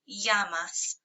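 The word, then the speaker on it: llamas: your students Comas K yamas double L's are always y sounds yamas so you can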